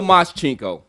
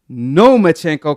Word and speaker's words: Lomachenko: No Moschenko. Lomachenko, because he want no smoke with Pacquiao or Devin Haney. So, Lomachenko, he came out, and he had an interview